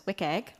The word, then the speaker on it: WCAG: The web content accessibility guidelines, which I pronounce as WIKG, are an internationally agreed